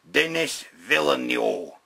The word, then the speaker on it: Villeneuve: And the movie's actually being directed by Denis Villeneuve, which, it's how you pronounce it, right?